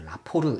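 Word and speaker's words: 라포르: 보이시죠 얘를 라 폭 예전에는 원래 포라 포 라고 했는데 이게 아마 발음 자체가 이거 에 가까운 가 봐요 그래서 라 포르 이렇게 했습니다 영어단어 까지는 몰라도 되지만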